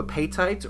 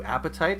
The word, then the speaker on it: apatite: This is blue apatite or blue apatite. I've heard it pronounced both ways, but I like apatite.